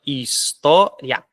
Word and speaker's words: história: aqui de de tongo percebeu que a palavra história história a sílaba tônica é essa a sílaba tônica é